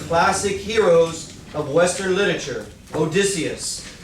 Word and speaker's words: Odysseus: In Homer's Odyssey, you'll meet one of the classic heroes of Western literature, Odysseus. Say that with me, because if not, that'll get mispronounced the whole day and every day. Odysseus.